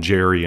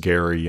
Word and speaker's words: Geri: I like to call them Jerry and Freaky, by the way, just to entertain myself. As a terrible pronunciation that sounds funnier in the modern era, Jerry and Freaky, but I think it's more correctly pronounced Gary and Freaky.